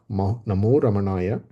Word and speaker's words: Namo Ramanaya: So as a result, Muruganar directly introduces the Mahamantra, Namo Ramanaya, and the whole poem is a long explanation of this particular mantra, which has 6 syllables, Na, Mo, Ra, Ma, Na, Ya.